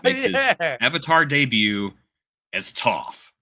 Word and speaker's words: Toph: his Avatar debut as Toof rhymes with tough uh I I something